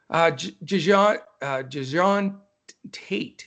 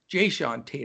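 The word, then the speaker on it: Jae'Sean Tate: Jajon Tate, very difficult to say that. I want to say DeJounte for DeJounte Murray, but Jajon Tate, Jayshawn Tate, I don't know, whatever. Jayshawn Tate, I think is the right way to say it.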